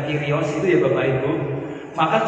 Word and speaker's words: Kyrios: Maka kalau mau diberi gambar roti, anggur, ikan, gandum, salib, PX bukan Vespa, Kyrios, P disilang itu bacanya Kyrios itu ya Bapak Ibu.